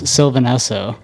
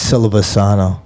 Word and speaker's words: Silvasano: it's like that's because everybody thinks it's Silvanesso. Like the no, I don't. It's Silvasano. Silvasano, dude.